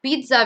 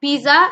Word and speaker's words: pizza: I hope you all like pizza very much. It's not pizza, it's pizza.